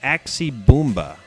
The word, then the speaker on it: Axe Bomber: The fourth and last song on this album is called Axe Bomber, but for some reason he pronounces it the Axie Boomba.